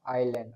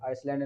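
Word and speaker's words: island: Australia, New Zealand, Canada, south Africa और आइलैंड। आइसलैंड नहीं है, आइलैंड पढ़ेंगे, साइलेंट है।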